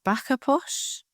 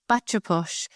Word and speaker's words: bacha posh: I don't know if I'm going to pronounce this right, but you lived as a backer posh. Is that right? Posh. Bacha posh.